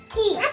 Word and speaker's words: chi: Key. Key. Good job, Alexa. Key. Because just C alone makes ch, but CH makes k.